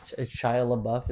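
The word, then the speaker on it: Shia LaBeouf: Shia Labuff.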